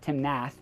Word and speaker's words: Timnath: Now it's spelled Timnath, so it could easily be pronounced Timnath, but it is Timnath, Colorado.